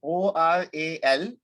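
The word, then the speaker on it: aural: So it is an oral tradition, O-R-A-L and A-U-R-A-L. Both are pronounced the same way.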